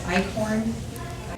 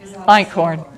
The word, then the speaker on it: Einkorn: And I don't know how you say it, is Eichhorn? Einkorn, yes, it is.